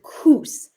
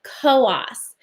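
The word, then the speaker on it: Coös: located here here is coast county now i know it looks like it says coos but here in new hampshire we pronounce it koas it is actually an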